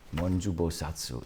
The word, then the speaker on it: Monju Bosatsu: Monju Bosatsu in the Japanese pronunciation.